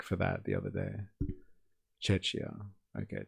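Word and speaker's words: Czechia: Chetchia. Okay, Chetcha.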